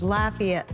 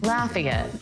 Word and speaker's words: Lafayette: It's Lafayette, like, have you laughed yet? Lafayette.